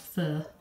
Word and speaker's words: pho: fur which is pho some people call it pho but it's actually pronounced fur just clean that up